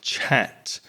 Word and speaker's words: chat: For example, the the ch in chat, ch is considered one consonant sound as res mentioned before. So even though it's two letters, we just ch one sound. Chat.